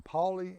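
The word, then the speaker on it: Paoli: Monica and I are here at the Three Amigos Covered Bridge in poly Indiana and Paulie is spelled p-a-o-l-i this bridge was built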